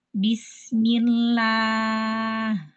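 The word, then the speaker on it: بسم الله: Sekarang hukum huruf lam pada lafzul jalalah yang didahului dengan kasroh. Ya, maka huruf lam tetap dibaca tarqiq. Ya, kalau dia didahului oleh kasroh, maka dibacanya tarqiq.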